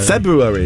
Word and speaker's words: February: No, there's an R. February. February is the correct pronunciation.